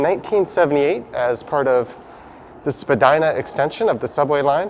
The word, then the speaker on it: Spadina: the spadina house museum it is pronounced spadina and if i'm not mistaken i think spadina road north of bloor is actually pronounced spadina as well i just took my